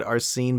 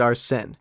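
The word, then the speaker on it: Arsène: persona our sin or I guess Odonis pronounced that our scene but I mean Joker pronounces it our sin it doesn't really matter it's like semantics the point is after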